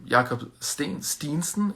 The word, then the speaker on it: Jakob Steensen: Jakob Steensen is his Danish pronunciation.